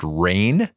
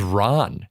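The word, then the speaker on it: Rahne: was finding out that wolf Spain's name is pronounced rain for years since childood do you think it was I thought it was Ron it's r a h n e the whole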